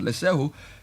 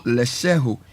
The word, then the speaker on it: Letshego: Join the investment revolution with our fixed deposit solution at Lesheho. Take care of your financial future. Call Lesheho, spelled Letshego. So you can say let she go, but it's pronounced Lesheho.